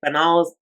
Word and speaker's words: banal: There are actually a few ways to pronounce this word that are all correct. I typically say banal, and that is a fairly common pronunciation, so that's what we're going with.